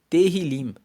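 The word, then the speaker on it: Tehilim: Inclusive no hebraico, no livro original, livro de Salmos, se chama Terrilim. Se escreve T E H I L I M.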